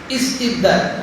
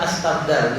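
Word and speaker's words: اسْتِبْدَال: jika aradtum kalian menginginkan istibdal. Nah, itu kalau dipotong bacanya istibdal bukan astabdal gitu ya. Rumusnya kalau kata kerja itu dilihat huruf ketiga. Gitu kan? Rumus. Jadi bacanya istibdal.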